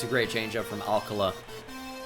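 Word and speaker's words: Alcalá: great change up from Alcala I really wish it was Alcala alkala bothers me but that's how they say it it's going to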